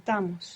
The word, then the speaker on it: estamos: And for the we version, the accent is where it should be, because we're adding 2 syllables. So give me the we version. Estamos.